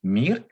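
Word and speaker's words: мир: sa beauté c'est que le mot pour désigner le monde se prononcent mille comme le nom de l'ancienne station spatiale et bien ce mot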